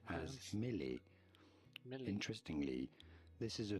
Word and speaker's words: mêlée: Shut In up and French it is pronounce said as Prince. mêlée.